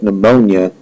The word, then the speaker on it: pneumonia: Just like pneumonia, you don't hear a P at the beginning of that, but there's still a P at the beginning of pneumonia.